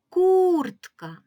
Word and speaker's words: куртка: ось такою скісною рисочкою тепер погукаємо до себе слово куртка приготувалися куртка куртка який склад ми вимовляємо з більшою силою голоса кур - це перший склад Отже в слові куртка наголошений перший склад показуємо його знаком наголосу